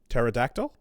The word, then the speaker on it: pterodactyl: The P is silent. Pterodactyl.